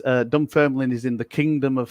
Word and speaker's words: Dunfermline: It is Dunfermline. It is Scotland. Dunfermline. Okay, Dunfermline. Dunfermline. The extra syllables.